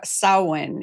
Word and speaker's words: Samhain: to do, what I found out was, Samhain is pronounced Samhain if you're going by, Solid. like, the Celtic New Year origin, right?